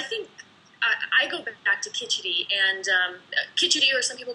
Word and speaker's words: khichdi: You know, I think I go back to khichdi, and khichdi, or some people call it khichuri. It's spelled, if you're looking for it online, there's